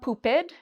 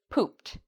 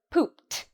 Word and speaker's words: pooped: So it's not pooped, it's pooped. How do we pronounce the ed in this word? We pronounce it like a t sound.